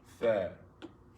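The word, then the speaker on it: ث: Fa, Tha. fa. It looks like ta, but it has 3 dots. It makes tha sound. Tha, tha, tha, tha, Fa, tha, fa. tha. Like if you say with, With, tha, fa, tha, fa.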